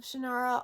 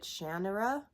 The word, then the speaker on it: Shannara: And by the way, I'm fully aware that the author pronounces it Shannara, but it's always been Shannara for me, and I really hate it